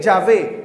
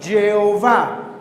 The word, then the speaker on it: Yahvé: Aquí es la A y la E, Yahvé. La pusieron al revés, la E y la A, y un punto que parece una O, que termina diciendo Jehová.